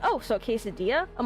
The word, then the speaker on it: quesadilla: And they're like, oh, so quesadilla? I'm like, okay, that's a bit better, but it's not the actual pronunciation.